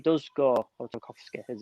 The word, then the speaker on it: Tarkowski: Because another reason I want to see it pushing up is because if Tarky does go, or Tarkowski as it's pronounced, if he does get like a sniff